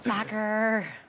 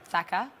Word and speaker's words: Saka: Soccer. Is that how I say it? Yeah, there's like an R. Soccer. Saka. Bukayo Soccer. How do you say it? Saka. Saka. How it's said.